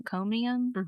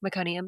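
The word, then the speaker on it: meconium: They did notice like during one of those movements that there was some mcomeium. Is that how you say it? Mcconium.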